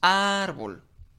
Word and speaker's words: árbol: Nosotros aplicamos la técnica o el método de la entonación y decimos árbol. Okay. Nos damos cuenta que ar pues es la sílaba tónica. Por lo tanto, es la sílaba donde recae mayor fuerza y de acuerdo a la eh al orden de sílabas, pues es la penúltima.